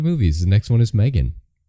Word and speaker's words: M3GAN: let's talk about movies the next one is Megan Megan or M3 gan yes um that is how you pronounce it I'm sure yes so it's been